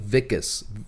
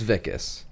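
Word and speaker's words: Wikus: something like fake i it's pronounced i think vickus w-i-k-u-s but he's germans ficus i think it's vickis i'm gonna call him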